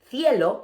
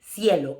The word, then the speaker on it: cielo: So for us, instead of cielo, it will be cielo. It will sound like S. So basically, Z, C, and S, in Spanish from Latin America, it sounds like S.